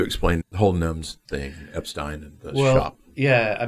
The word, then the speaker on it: Epstein: by the Epstein family, both pronunciations are correct. because the family called themselves Epstein, but Brian said it was Epstein. So I often say Brian Epstein and his brother Clive Epstein, because that's how they were.